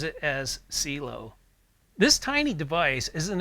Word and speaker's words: Cielo: I keep wanting to pronounce this as Cielo, which means sky in Italian and Spanish, but the company pronounces it as Cielo.